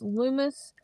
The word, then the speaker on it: Loomis: Yeah, it's spelled Lumos. It's Loomis Fiber Internet.